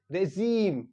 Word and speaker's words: regime: is pronounce differently so यहां पर जो आय होता है वो निकलता है ई साउंड देता है क्या देता है ई